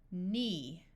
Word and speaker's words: knee: any prefixes or suffixes, the K will be silent. So this sound is n, not. EE says E, knee, knit.